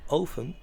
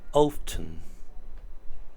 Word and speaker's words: often: estructura vale lo primero lo puedes pronunciar Open sin la t más al americana o bien Open daría lo mismo vale como prefiráis How